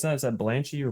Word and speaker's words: Terreblanche: He's a very interesting character, and that name we pronounce it Terreblanche, and it might even be, when I look at that name, it has like a French sound to it, so it